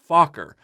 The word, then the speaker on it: Fokker: producers of Robo tech didn't want the pronunciation of Fokker to be misunderstood as an English curse word so they changed it but the correct pronunciation is Fokker especially considering Roy's background